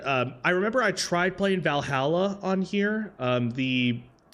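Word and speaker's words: VA-11 HALL-A: It's part of the reason why I've actually been, I remember I tried playing Valhalla on here. It's spelled, what is it?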